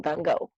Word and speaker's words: Gogh: So I told you Van Gogh is the one that painted it. So I could say Van Gogh's, and Van Gogh I consider one word because it's part of his name, Van Gogh.